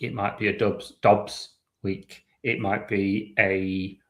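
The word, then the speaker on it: Doubs: Um, but like Romeo Dubs was was it 4 years 68 million up to 80. I would just like to interject. I've checked and it's pronounced Dobs.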